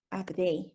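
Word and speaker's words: עבדי: La palabra siervos en hebreo es la palabra Abdei. No sé si así se escriba, pero así se pronuncia. Abdei.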